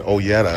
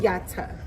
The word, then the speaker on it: Oyata: Like I said, Oyetta or something like that. No, it's no. It's I don't want to butcher it. no E.